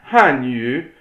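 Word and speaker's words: 汉语: It's Hanyu. So that's 四声. 哦，So, but if you pronounce it wrong and you say 二声, then you mean Korean. So that is, 对 be careful. If you say Hanyu, that's going to 对 be Korean.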